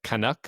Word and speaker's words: Kanak: We have with us Kanak. How you doing? You pronounced it wrong, man. I thought we covered it's kanak.